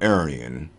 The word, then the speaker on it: Aryan: as it were to pronounce the beliefs in and history of the mythical Aryan phonemically the same as arianism now why do I